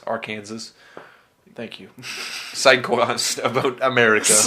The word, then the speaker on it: Arkansas: joke about our Kings our Arkansas which is Arkansas actually I think we Canadians need to get the pronunciation right of the American states Arkansas thank you cyclists about